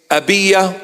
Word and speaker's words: Abijah: he was from the division of abijah or the proper pronunciation is abya or Aya abya or Aya and